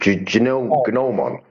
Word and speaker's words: gnomon: How do you pronounce it? Gnomon.